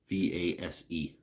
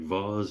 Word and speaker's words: vase: a big bars face how do you guys pronounce that vessel v-a-s-e I don't think one way is better than another but like Voz and vase plus types it out